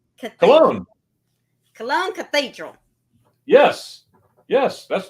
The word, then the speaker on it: Cologne: see let me tell you if I can pronounce the first one this could be this could be good cologne cologne Cologne Cathedral yes yes that's that's perfect yeah